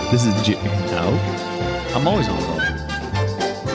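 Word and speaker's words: en garde: is no I'm always on guard not like sword fighting like on guard not like on guard e even though it's spelled e n e n that bothers me that's a French thing this is the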